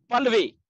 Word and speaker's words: Pallavi: Is it Pallavi? Pallavi, yeah.